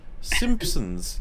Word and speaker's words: Simpsons: in the class like people gradually realizing there's no P pronounced in Simpsons while while pronouncing the P it's just like what are you all doing it's like Simpsons yeah there's no P